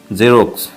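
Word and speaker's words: Xerox: যেমন জেরক্স। তারপরে ওয়াই লেটারটির উচ্চারণ কখনো রসই এর মত হয়।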